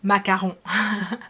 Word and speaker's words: macaron: ไปมากระลอง So here he said macaron, which is macaron. So here he just pronounced it the Thai way, completely okay.